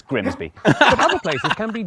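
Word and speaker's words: Grimsby: be tricky to pronounce take this place looks simple but what if we told you it was pronounced we'd be lying it's grimby but other places can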